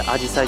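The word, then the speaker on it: あじさい: ですけどあのまあ人によって味さえもしくああ実際というイントネーションがあるんですけど正しくはどっちかてアジサイですねじゃあねそしてまあ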